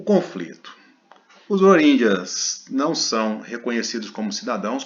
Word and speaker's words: Rohingya: eu vou falar a pronúncia certinha para depois eu falar em português porque fica mais fácil. É Rohingyas, é assim que é falado.